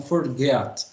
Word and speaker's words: forget: aí ó outra dica quando a gente tem o te No final a gente tem o